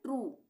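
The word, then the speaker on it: true: जैसे टी आर यू ई। यहां पे क्या है? यू ई आ रहा है लास्ट में। तो इसको हम क्या पढ़ रहे हैं? ट्रू।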